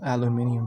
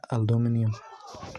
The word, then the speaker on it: aluminium: Enclosures are are bare alum aluminium. Bro, I almost said aluminum. I never say it like that.